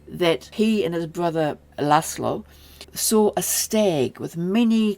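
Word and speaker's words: László: I'll stick with the Hungarian which is lasslo. Now, it's llo not llo. So, the s is a single s sound.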